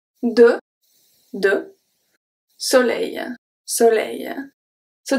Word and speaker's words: soleil: So, the S at the beginning is pronounced as a S because it's the first letter of the word, so it's always going to be pronounced as a S. The O is a short O, close O, and then the L is pronounced regularly. N, E, I, L make the sound E, I. E, I. Soleil, E, I. Okay, so that's the E plus the rolling E.